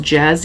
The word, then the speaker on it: Gez: I used to say her name wrong too, and now I know it's pronounced Jez, even though it's G-E-Z.